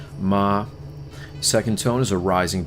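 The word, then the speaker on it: mā: So the first tone is a high flat tone, and we got mother for that is the meaning, but it's pronounced ma.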